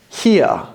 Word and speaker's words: here: Again, we don't pronounce the R in the middle of the word, but it's two sounds. So we've got he, here, he, here, here, here, here. We're not pronouncing the R. In American English, this would just be one sound and the R at the end.